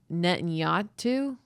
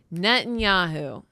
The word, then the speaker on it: Netanyahu: His name is Netanyu. Net Netanyahu. Netanyahu.